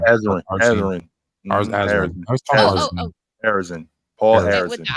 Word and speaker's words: Arizin: Anyways, Someone asked who Paul Arzine. I said, Arizin. like I said, I say it was Arzin. I would say his last name wrong. Who is it? Think Arizona tone. Arizin.